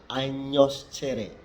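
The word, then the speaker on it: agnoscere: Kemudian tulisannya Agnos Cere dibaca Agnos Cere, Agnos Cere. Itu untuk huruf G. Yang berikut huruf S diucapkan seperti S, seperti kita menyebut kata sudah.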